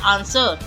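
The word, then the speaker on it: answer: आंसर आंसर question का आंसर होता है आंसर। W silent word word rack rack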